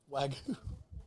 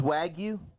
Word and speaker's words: wagyu: real wagyu too yeah wagon that's not how you say it it's wag you wag you wake you beef wag you beef hey wag you where